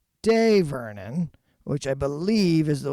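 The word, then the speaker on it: Dai Vernon: Diverin, slow motion card vanish. Okay, I say diveron because I'm originally from the east coast. I know it is short for David, so it should be de Vernon, which I believe is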